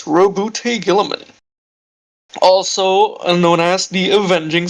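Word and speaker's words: Roboute Guilliman: But yeah, how you pronounce it is Robute Gilliman, also known as the Avenging Sun.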